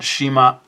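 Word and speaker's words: 島: And in Japanese, you would pronounce it Shima.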